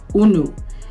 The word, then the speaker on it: unu: that we use, and we pronounce it unu. This is the Igbo word una.